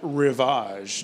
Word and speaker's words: Rivage: are going to look at the new pm10 revage did I pronounce that right you did yes so very